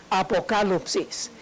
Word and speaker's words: apocalipsis: apocalipsis en la lección aparece escrita con las letras griegas y entre paréntesis trans y literal para que lo puedan pronunciar correctamente apocalipsis y esa palabra significa